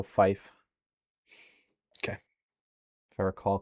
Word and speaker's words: Fife: Looks like it lines up with the better I believe it's pronounced like life, so Fife.